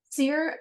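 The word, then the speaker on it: sere: Sear means dry or withered, especially of vegetation. Gotcha. And is that how it's pronounced, as sear? I think so. Yep, it is.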